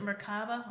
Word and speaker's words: Merkaba: Is it Merkaba? Merkaba.